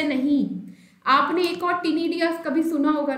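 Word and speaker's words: ctenidia: Pronunciation दोनों की same है, कंफ्यूज नहीं होना है.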